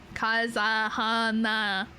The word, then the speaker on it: Kazahana: I like my I my last name is not that complicated it's like four syllables that's not too crazy kazahana see it's easy it's